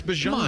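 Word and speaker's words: Bijan: Yeah, it's Bjan. And then when he pronounces himself on NBC, it's Bejan.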